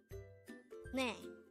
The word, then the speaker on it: 네: Ne. Ne. This is composed of just one syllable, and this is pronounced as ne.